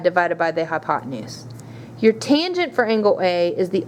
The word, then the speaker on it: tangent: Tangent is T-A-N. Again, you would pronounce this tangent, even though you just see tan, and A is your angle.